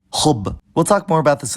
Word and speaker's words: حبّ: pattern, like in mudarris, or at the end of some words when the last 2 root letters are the same, like khub.